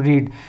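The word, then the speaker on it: read: फिर उसके बाद हैव, फिर वर्ब की थर्ड फॉर्म रीड।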